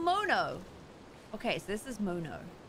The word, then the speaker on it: Mono: he with his coat mono like monday now oh why am